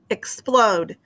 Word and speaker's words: explode: Okay, the second syllable is this, plode. Okay, if I put my hand under my chin, explode. You can see it has O-D-E, O consonant E. Okay, the syllable that is accented is at the end of this word.